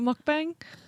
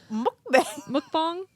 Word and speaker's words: mukbang: we could have a group mukbang. Mukbang. Mukbang. Mukbang. I don't know. I know it's spelled bang, but I think it's pronounced bong.